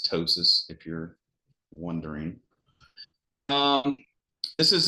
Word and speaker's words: ptosis: So that's called ptosis. I still call it ptosis just to remind myself and remind people there's a P there, but the actual pronunciation of that is ptosis, if you're wondering.